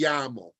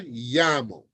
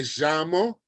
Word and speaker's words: llamo: Remember, anytime you see a double L, you are pronouncing it like a Y in English. Me llamo. All right? Sometimes now you hear them call it, they say me llamo, all right?